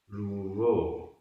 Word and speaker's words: रूवो: दव्व दव्व, परिवट्ट परिवट्ट, आधा ट पूरा ट, परिवट्ट, रूवो रूवो, रा में बड़े ऊ की मात्रा है, जो, सो, कालो कालो,